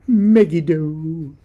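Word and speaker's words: Megiddo: hero of megido and I pronounce it megido a painter of dragons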